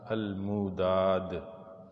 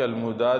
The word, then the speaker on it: الموداد: قحطان، یقطان یا جقطان تینوں ایک ہی نام کے مختلف تلفظ ہیں. تورات میں ہی قحطان کے 13 بیٹے ذکر کیے گئے. پہلا ہے الموداد. الف لام میم واو دال الف دال. الموداد.